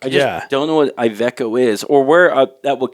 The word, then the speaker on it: Iveco: Yeah, I think it's Ivanco. Is that how you say it? There's no N.